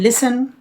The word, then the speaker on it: listen: In listen, T is silent.